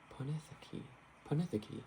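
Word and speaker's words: Pinakotheke: Oh, there's a Greek word, pinakotheka? Ponetheke, I think is how you pronounce it.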